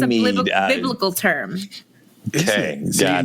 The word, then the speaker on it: Ganymede: Ganymede? Yeah. It's an indie film you did. Yes. Ganymede. It's Ganymede. Ganymede. Ganymede. Yes, it's a Ganymede.